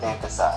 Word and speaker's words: Dave Disci: Dave Disci. Disci. Okay, it was hard to pronounce.